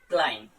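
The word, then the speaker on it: climb: ध्यान में रखना है, अगर बी से पहले एम लेटर अगर आता है तो उस कंडीशन में हम बी को साइलेंट कर देते हैं। जैसे अगर मैं बात करूं क्लाइम, अब इसमें बी आया तो बी साइलेंट हो जाता है।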